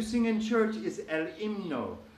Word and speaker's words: himno: The H in Spanish is always silent unless it's together with the C forming the ch sound. But when you see an H alone, it's usually not pronounced. It doesn't even lengthen the vowel or anything else. It's just there for space, really. El himno.